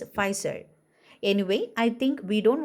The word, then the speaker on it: Pfizer: So the P is silent for this word, so we want to pronounce it as Pfizer.